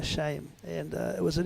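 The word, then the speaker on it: Sain: Rob as and Peter sham sham I'm sorry he told me how to pronounce his name s a i n that's Peter shame and uh it was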